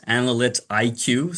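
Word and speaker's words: AnalyticIQ: Yeah, I haven't really thought about how to pronounce it, but it's analyt IQ.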